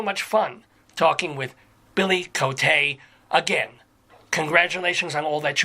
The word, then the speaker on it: Coté: mark over the Ian Cote yeah and people don't pronounce it and just call me coat I mean that's just